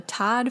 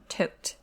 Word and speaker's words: Todt: You may know them as the Todd family, but actually, apparently it's pronounced Todt. I always thought it was Todd, so hopefully we won't slip up.